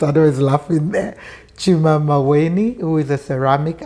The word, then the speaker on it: Chuma: Well, my name is Chuma. I know, I never pronounce it well.